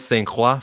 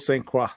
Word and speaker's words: Saint Croix: But as soon as I heard Saint Croix from Kaiser Guslevin, I'm saying, that's exactly the correct way to say it. All right, I'm gonna roll with Saint Croix then.